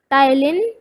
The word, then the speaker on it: ptyalin: Saliva एक enzyme contain करता है जिसको बोलते हैं टाइलिन, इसमें पी साइलेंट होता है और इसको स्पेल करते हैं PTYALIN, टाइलिन, या इसको सलाइवरी एमिलेस भी बोलते हैं, एमिलेस।